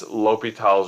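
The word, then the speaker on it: L'Hôpital: for simplicity is that since l'hopital's rule is spelled the hospital and the symbol for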